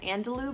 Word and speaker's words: Andalou: It's the Andalou brand.